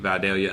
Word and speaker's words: Vidalia: like a Apple you know a sweet sweet Vidalia onion that's how you pronounce it yeah so you buy that youngin